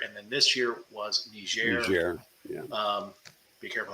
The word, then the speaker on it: Nigeria: then this year was Nigeria um be careful how you pronounce that you can get in trouble soft G soft G okay just a warning